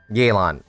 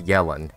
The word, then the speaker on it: Yelan: hello yellen once again yaylon right that's how you pronounce i keep pronouncing as yellen i'm sorry for that